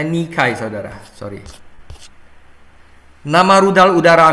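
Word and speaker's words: Nike: jadi Dewi kemenangan Yunani adalah nikai bacanya nikai saudara sor nama rudal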